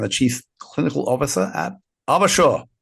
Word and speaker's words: AvaSure: who are respectively the AVP of clinical informatics and the chief clinical officer at Arbashaw rhymes with Larabashaw which as you hear